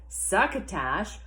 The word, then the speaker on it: succotash: and succotash said Stan succotash rhymes with bash succotash said Wally and